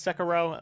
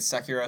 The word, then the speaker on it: Sekiro: how you say it it's not secure oh it's second row that makes sense I've been calling it Secura since it was announced